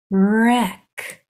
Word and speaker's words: wreck: hard C sound so these sounds are r e pushing those sounds together it's wreck wreck like you would wreck